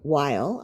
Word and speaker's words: Weil: loan me was by Dr Andrew Weil I think that's how he pronounces his name w-e-i-l who's still around these